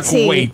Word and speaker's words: Kuwait: Pero sí, se pronuncia Kuwait.